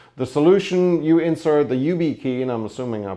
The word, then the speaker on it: YubiKey: You insert the YubiKey, and I'm assuming I pronounced that right, Y-U-B-I key.